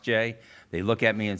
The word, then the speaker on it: Gex: Everybody's seen that GEX, and you need to realize that's an old Kentucky name with a unique pronunciation of J.